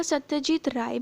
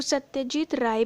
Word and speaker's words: Satyajit Ray: पंडित याद अप्रैल 1962 वैसे एक बात बताऊं इनका सत्यजीत राय भी कह सकते देवी कह सकते हैं स्पेलिंग तोरे वाली है बट इवन क्वालिटी तो राय होगा तो सत्यजीत राय भी कह सकते हैं